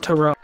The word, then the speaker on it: Tyrod: give me an idea for my black king tyrod taylor wanting him to thrive it's pronounced toro so basically in the middle of in the